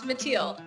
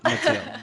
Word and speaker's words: Mattiel: I was afraid of mispronouncing your name, so I'm glad you said it. Oh, yeah. It's Mattiel. Mattiel.